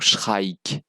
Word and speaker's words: Shrike: Donc si je le prononce bien, parce que c'est che comme chat, enfin chat, mais avec un R. Après le son che, donc Shra, et puis qui file en ik, donc Shrike.